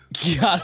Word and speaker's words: gyat: My gyat, wait, what is this? A gyat? Gyat? Gyat. That's how you're supposed to pronounce it.